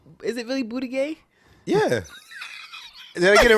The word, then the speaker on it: Buttigieg: It's Buttigieg. Okay? What? Gay? Did I say it wrong? What's his name? Is it really booty gay?